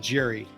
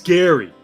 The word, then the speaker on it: Gerry: Is it Gary or is it Jerry? It's Gary. Yeah. So it's Gary. I've been playing mind games with myself for weeks, Brad. He spells it Gerry. Get over yourself, Gary. He pronounces it Gary though.